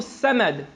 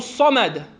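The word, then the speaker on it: صمد: the way is written because if you change the pronunciation so for example if you say Allah who Senate Allahu Synod right instead of Allah who sammad saud nom gusta me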